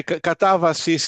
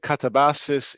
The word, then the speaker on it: katabasis: correctly do correct me katabas. Is that right? Is that how you is that how you pronounce it? Yeah, katavasis in Greek, katabases in English, you know, because I'm